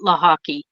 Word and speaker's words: Lochocki: And then they just decided, okay, we're going to pronounce it Lochocki, and that's your new last name. But actually, if it were pronounced in Polish, it would be Wojcicki, which is absolutely not how it's spelled. So, different languages have different alphabets, and that's just one letter in the Polish alphabet that is different than the English alphabet.